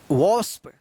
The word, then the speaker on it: wasp: जैसे हम लोग पढ़े WANDER, वांडर, वांडर गलत, इसका सही उच्चारण होगा वॉन्डर। वॉन्डर का मतलब होता है इधर उधर भटकना। WASP, इसको क्या पढ़ेंगे? वॉस्प।